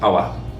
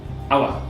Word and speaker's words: over: If you ever have over, we pronounce it as awa. Awa.